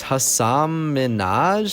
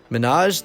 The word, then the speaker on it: Hasan Minhaj: it clear she didn't really know how to pronounce his name and it's Hasan Minhaj she asked no he replied yes protested Ellen no he repeated really she asked Manoj then spent the next three minutes teaching the